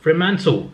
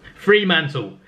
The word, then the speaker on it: Fremantle: In 11th place is Fremantle. I keep pronouncing it wrong. Fremantle.